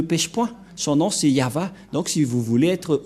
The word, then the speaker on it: Yahvah: de de yava et la prononciation de y h va selon les ébreux c'est yava et personne ne peut